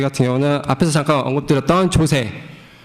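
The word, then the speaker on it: JOSE: 저희 같은 경우는 앞에서 잠깐 언급드렸던 조세, 발음을 좀 조심해야 될 것 같긴 한데 조세 이제 JWT라고 불리는 JSON 웹 토큰이라는 것을 이용을 하고 있습니다.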